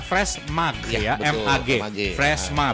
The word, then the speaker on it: Freshmag: Freshma itu tulisannya lah Fresh Mag ya, MAG.